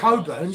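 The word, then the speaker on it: Cockburn's: all- It's not it's Coburns, it's all Cockburns. friendly. It says It's spelled all Cockburns.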